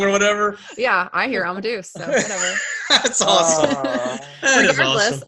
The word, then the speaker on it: Amadeus: I love Amadeus. It's one of my alarm. Amadeus.